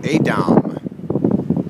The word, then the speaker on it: Edam: And so we bid adieu to Amsterdam as we're setting sail right now to Volendam and to Edam, as I was told the correct pronunciation yesterday was by one of my Dutch comrades aboard.